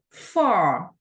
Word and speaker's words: far: Far. Como vemos, los dos puntitos nos marca que tenemos que pronunciar así más extendida la vocal.